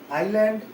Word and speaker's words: island: आइलैंड, ISLAND, S silent है इसमें।